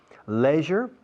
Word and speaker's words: leisure: Leisure, ocio, leisure escrito. Leisure, leisure. Both are correct.